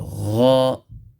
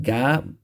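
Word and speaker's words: غَ: So gha, ghu, ghi. And yes, you have to pronounce it with the full mouth. And it's not ga, but it's gha.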